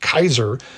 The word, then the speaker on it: Caesar: the Latin word ceser properly pronounced Kaiser to their leader because